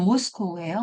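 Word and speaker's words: Moscow: 네, 그러면 그 밑에 네, 발음이 모스코우예요.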